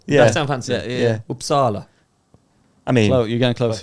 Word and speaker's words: Uppsala: How do you say where you're from? Uppsala. Is that good? Uppsala. Oh, that's nice.